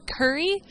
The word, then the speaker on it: Kuri: The thing that I saw that I thought was really cute and adorable and very cool was Kuri. Kuri as in Curry, but it's spelled Kuri.